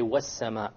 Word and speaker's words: وَالسَّمَاءِ: Therefore, we drop the lam and we say وَالسَّمَاءِ.